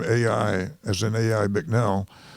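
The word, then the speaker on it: A.I.: familiar with the name AI as an AI mcnell it's capital A little I and it's pronounced just like the two letters George M Balch was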